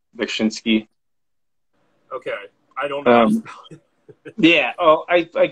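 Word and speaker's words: Beksiński: It's Bekshinsky.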